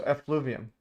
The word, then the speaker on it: effluvium: They were all without exception discussing the elovium. I'm going to see how to pronounce this. Elovium. Elovium. Okay. So effluvium.